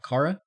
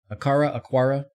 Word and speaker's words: Aqara: Aqara? Aqara. It's got a Q, so in English it should be Aqara, but doesn't have a U, so I don't even know.